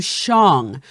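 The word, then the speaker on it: Shang-Chi: of somewhat fluent chinese the name chang qi which should be shang kui in pinyin writing this is two or and then he shows a character in chinese characters would indeed in mandarin chinese be closer to shong just like the name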